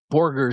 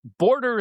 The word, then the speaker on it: Borger: I remember Joe McHugh mispronouncing Stan Hansen was from Borger, Texas and Mchugh was going 275 pounds from Border, Texas.